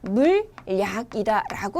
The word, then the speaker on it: 물약: 자, 그 다음에 두 번째 경우에는 물약이 발음이 올바른 것이 아니라 그렇죠. 물약이다라고 발음을 해야겠죠. 자, 왜 이렇게 발음을 해야 되냐라고 한다면 물과 약이 만나서 하나의 단어가 되면요. 물약 이렇게 발음하기가 힘든 거야. 그치? 그래서 두 번째 음절이 이렇게 이, 야, 여, 요, 유와 같은 모음으로 시작되는 경우에는 니은을 첨가해서 발음을 하도록 합니다.